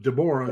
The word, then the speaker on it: Deborah: Deborah, we would say Deborah, but Deborah is the way she pronounces it.